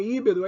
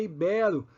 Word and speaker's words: ibero: não é não é íbero é ibero não é púdico é